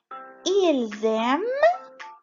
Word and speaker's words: ils aiment: nous aimons، vous aimez، ils aiment و elles aiment. ما ننسى إنه ال ENT في il و elle ce sont muets ما بنقرأهم.